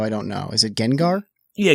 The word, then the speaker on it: Gengar: wrap up i want to ask about your gengar collection is that how you pronounce it i'm i am so not a pokemon guy so i don't know is it gengar yeah gengar yeah he's the the purple ghost pokemon yeah